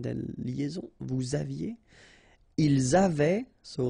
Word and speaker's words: avaient: Ils avaient, so look here, ENT, you write them, you don't pronounce them.